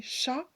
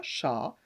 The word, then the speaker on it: chat: Donc c'est pareil, chat, ça prend un T, mais le T est muet, on ne le prononce pas. Donc on écrit ch, CH, et on rajoute le A, chat, et le petit T qui est muet.